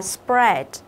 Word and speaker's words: spread: Đấy, cũng là AA nhưng cái từ này mình sẽ đọc là spread. Spread. Tức là cái AA ở đây mình sẽ đọc thành âm E.